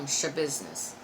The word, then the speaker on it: Schabusiness: Oh, I watched the Taylor Schabusiness, and that's how you say her name, Schabusiness. I watched that trial, so got all about that.